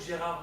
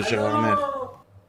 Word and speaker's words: Gérard: y a pas de Gérard ah oui parce qu'il y a pas de parce que on prononce pas le r dans Gérard ber ah non Gérard alors pourquoi dans 20